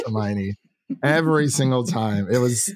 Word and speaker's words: Hermione: She would say her Hiney. And I'm like, yeah, that's Hermione.